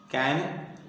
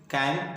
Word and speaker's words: can: इसमें देखो, इसके प्रोनाउंसिएशन में फ्रेंड्स हम अक्सर मिस्टेक करते हैं, हम बोलते हैं कैन, एक्चुअली होता है कैन, 2 मात्राओं वाला। कैन नहीं, कैन तो पानी की कैन है ना, क्या है, कैन।